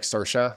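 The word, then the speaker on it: Saoirse: to pronounce that yeah like sersa like the actress so we were like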